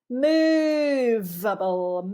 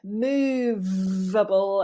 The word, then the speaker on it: movable: Movable, biting that lower lip. Movable, and then on the final syllable, bringing those two lips together.